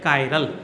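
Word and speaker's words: chiral: का पढ़ रहे हैं, तो ये या तो किराल आएगा या फिर आएगा कायरल। सही वर्ड उच्चारण जो है इसका वो है कायरल, ठीक है।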